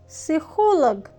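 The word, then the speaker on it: психолог: अब जैसे साइकोलॉजिस्ट में पी जो है वो साइलेंट होता है। इसी तरह रशियन में भी जो पी की साउंड है प की साउंड है वह साइलेंट रहेगी।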